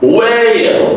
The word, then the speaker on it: whale: And when there's a long a you say a a w and then last dark of whale.